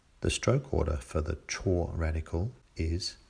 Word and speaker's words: 辶: easy chinese the walking radical chore to walk or walking it's often pronounced zol but it doesn't really matter because chore is not a character in its own right characters with chore as